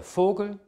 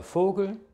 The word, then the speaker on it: Vogel: das weh was wie wird im deutschen normalerweise wie ein f ausgesprochen das ist also kein weh sondern ist ein von der aussprache her der vogel die vase der vater